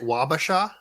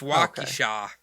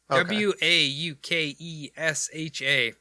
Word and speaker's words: Waukesha: uh here is it is it wabasha no no no no no it's walking shaw w-a-u-k-e-s-h-a i think it's waukesha a lot a lot